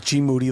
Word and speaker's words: GMoneti: His name's GMoneti. Last name rhymes with duty.